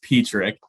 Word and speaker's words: Petrik: My last name is Petrik, so it's the first time on, so I know what it's Petrik.